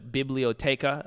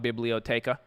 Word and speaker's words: biblioteca: you a story from the bibliotheca uh or excuse me the bible um that's not how you say it in spanish i was i was informed that's library but i call it biblioteca but anyways this is